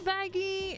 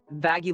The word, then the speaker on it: Vaggie: comes right okay hi baggie it's Charlie your girlfriend vaggy size it's vaggie not baggie and yes we are